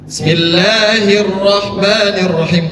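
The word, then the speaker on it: بِسْمِ اللَّهِ الرَّحْمَٰنِ الرَّحِيمِ: Panjangnya panjangnya dua harakat. Jadi enggak boleh dibacanya lebih daripada dua harakat. seperti bismillahirrahmanirrahim enggak boleh. Karena kenapa? Karena mad thai. Makanya kemarin ketika kita selalu membaca surah al-Fatihah, ketika kata Allah dipanjangkan itu salah.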